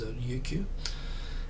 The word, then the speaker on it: Ryukyu: Of course, Japanese doesn't have an L, so in Japanese it's known as Ryukyu.